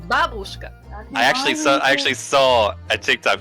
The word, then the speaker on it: babushka: It's just the emphasis is on a different letter, like.